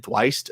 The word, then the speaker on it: Thwaites: The one thing that I found really funny that I saw in an interview with Brennan Thwaites, I think that's how his name's pronounced. Oh, Brennan Thwaites. Oh, Thwaites, yeah.